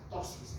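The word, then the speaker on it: ptosis: del plexo solar, para tosis gástrica e inclusive para... A ver, paréntesis, ¿qué significa tosis? La última línea. Tosis. Se escribe con P.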